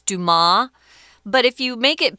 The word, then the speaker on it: Dumas: And Dumas' father died when Dumas was 4. Excuse me, Dumas. The S, I guess, is silent in French there.